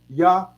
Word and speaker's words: Yahweh: The way this should be pronounced is Yahweh. You see? Yeah. Yahweh. You see what I'm saying? Yahweh. And again, that H on the end, you drop the A. So it's Yahweh.